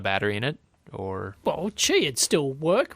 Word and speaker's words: Qi: I wasn't even close Qi is pronounced Chi I'm guessing that's from